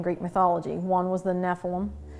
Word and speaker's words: Nephilim: One was the Nephilim. Some people pronounce it Nephilim. I say Nephilim.